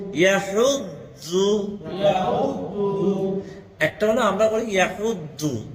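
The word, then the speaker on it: يَدُعُّ: ইয়াহুদ্দু ইয়াহুদ্দু। একটা হলো আমরা বলি ইয়াহুদ্দু, দু বলি, তাই না? দু দু দু না, ইয়াহুদ্দু একটু নরম করবেন, পুরা নরম না।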